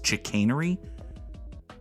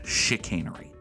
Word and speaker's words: chicanery: and said it as chicanery I guess I'm just wrong about stuff give me give me a bridge now in addition to okay it is pronounced like sh I'm I'm right about